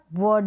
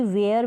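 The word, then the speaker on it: were: अगला वर्ड देखें, वर। वर, इसको वर पढ़ेंगे, इसको भी वेयर बिल्कुल ना पढ़ें। वेयर और वर दोनों की स्पेलिंग में और दोनों के प्रोनाउंसिएशन में फ़र्क है।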